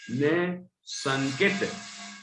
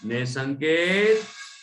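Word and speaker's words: निःशंकित: वो विसर्ग है, 2 लाइन बनी, 2 बिंदी बनी है ना, निह, हा जैसा हल्का सा उच्चारण होता है, निसंकेत, निसंकेत बोलो सभी बच्चे, निसंकेत।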